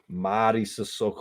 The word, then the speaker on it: Madi Sissoko: Madi Sissoko.